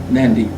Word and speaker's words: Nadi: But that's pronounced in the the Melanesian tongues as nyan like that or nd with the nd, Nadi.